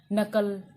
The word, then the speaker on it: knuckle: और सबसे बड़ा जो आप डेली लाइफ में यूज करते हो, नो, ठीक है, नोक, नो, नकल।